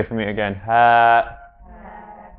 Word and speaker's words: ه: And that's the ha. Everyone say for me again, ha, ha.